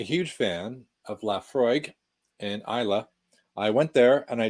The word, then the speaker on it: Islay: to the if you know where isla is you probably don't know it's like it's spelled i-s-l-a-y like islay if you don't speak